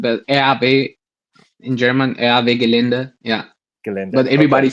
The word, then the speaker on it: Gelände: Or raw, yeah, it's just like raw, and but RB in German, RB Gelände, yeah.